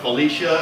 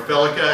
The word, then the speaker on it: FeliCa: a Sony standard it's called Uh Felicia or or felica actually um I I always say it wrong uh but it's very